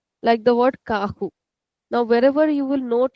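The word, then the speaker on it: carro: So this is called ku. So in European we might call it as ku but mostly in Europe and in Brazil both the countries we generally call it kahu.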